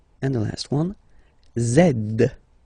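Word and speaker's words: zède: and the last one zed zed okay so remember to pronounce this D at the end zed zed okay so let's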